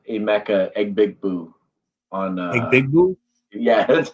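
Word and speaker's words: Egbuka: He did say he is the one who said Emeka Egbigbue on Egbigbue? Yeah, that's how he pronounced his name when he was a rookie on draft night.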